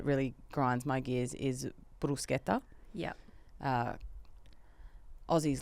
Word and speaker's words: bruschetta: That's not how you pronounce it. It's bruschetta. Yeah.